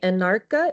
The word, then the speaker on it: Anarcha: If you'll give me Anarcha, is that how you say it?